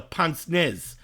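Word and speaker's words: pince-nez: This is talking about what was known in the olden days as, and the way it's pronounced in English, is a pince nez.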